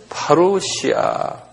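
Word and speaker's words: παρουσία: 한번 발음해 보세요. 파루시아.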